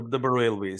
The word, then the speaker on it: Barelvis: Sufi inclined Islam, and correct me if I'm mispronouncing it, the Barelvis, yes, that is correct, the Barelvis.